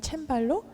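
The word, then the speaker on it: Cembalo: 코드는 어떤 바뀌었나요 어 하프시코드 는 이제 영어로 발음을 1 그렇고요 독일어는 챔 팔로 또 젤 불어로는 클럽이 쌍 이렇게 얘기합니다 그래서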